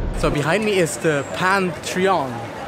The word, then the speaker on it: Pantheon: So behind me is the Pantheon.